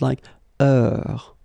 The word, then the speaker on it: heure: Remember, is not pronounced, okay? So it goes like heure.